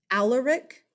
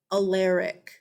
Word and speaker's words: Alaric: You'll hear it said either Alaric, or you'll hear people say Alaric.